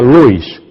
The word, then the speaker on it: Lewis: Agnes CS se escribe Lewis, se pronuncia Luis y la señora Bensley.